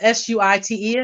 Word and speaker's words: Suite: You can reach out to me on Instagram um, at a sweet break, and sweet is spelled Suite. Again, it's a play on words.